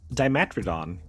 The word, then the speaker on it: Dimetrodon: Dimetrodon, pronounced Dimetrodon, roamed the Earth nearly 300 million years ago, long before the first true dinosaurs appeared.